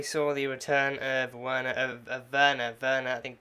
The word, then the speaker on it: Werner: Werner, I think the German pronunciation would be the W being a V, so Werner von Strucker, but now Alex, now going by the name of Alex Braun.